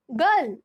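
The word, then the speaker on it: girl: ठीक है, अच्छे से देखिए, जब किसी शब्द में दो व्यंजनों के बीच आई आर आता है, तब हम आई का उच्चारण अ करते हैं। For example, G-I-R-L, गर्ल।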